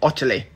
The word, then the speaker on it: Ottilie: name is incredibly simple you pronounce it otterly and the nickname we'll